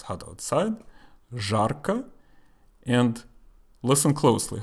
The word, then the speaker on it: жарко: Жарко. And listen closely. How do I say the letter Z? Жарко. So I pronounce it as Z because it's not the last letter.